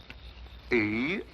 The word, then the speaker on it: Eros: She added an H where there shouldn't have been one. What? Then spell it as she spelled it, but without the H. E-R-O-S.